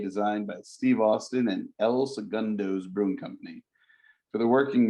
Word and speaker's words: El Segundo: Segundo, did I pronounce that correct? Yes, El Segundo Brewing Company.